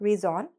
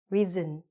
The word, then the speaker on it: reason: And many other words-okay?-that happen to end in "on", like: "reason"; not "reason" - "reasin". "Million". Now, here's a word that lots of people actually mispronounce.